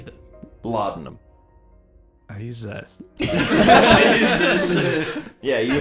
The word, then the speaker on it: laudanum: Laudanum.